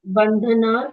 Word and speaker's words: बन्धनात्: बंधनात् short sound ही आया आपका।